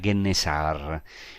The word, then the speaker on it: Kinneret: Ahora quiero decir que el nombre Kinneret fue bastante deformado en la pronunciación griega y aparece en el primer libro de los Macabeos y también en el gran historiador del tiempo de Jesús, que es Flavio Josefo. Kinneret se decía Gennesar.